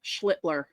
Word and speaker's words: Schlittler: Cam Schlitler. Yes. Emphasis on the pronunciation.